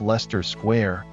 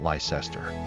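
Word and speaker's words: Leicester Square: Also, it's pronounced Lester Square, not Lysester, and Gloucester Road, not Glowester.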